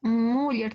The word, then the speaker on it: Müller: Müller se escribe, ¿no ve?